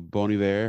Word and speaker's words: Bon Iver: going to see uh bon iver yeah bony bear however you want to say it he justin verner the lead singer founder of the band says he doesn't care how you say it just listen to his music illusion illusion yeah um